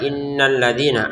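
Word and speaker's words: إن الذين: Inna kita dengungin dua harakat. Innalladzina alladzi dua harakat juga untuk nanya. langsung gabungin ke ya jangan innalladzina ya jangan seperti itu digabungin saja innalladzina yakfuruna biayatillah untuk kafnya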